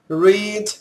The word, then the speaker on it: read: Read, read, read. O verbo ler é escrito igual nas 3 formas, porém a pronúncia é diferente na primeira e na segunda e terceira formas.